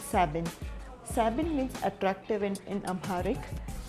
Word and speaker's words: Sabegn: been pronouncing the name wrong i have been pronouncing it as savaging but it's seven seven is attractive in amharic and so are